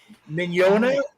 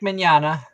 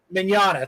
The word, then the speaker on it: Mignogna: Mignona? Vic Mignogna. Mignogna, thank you.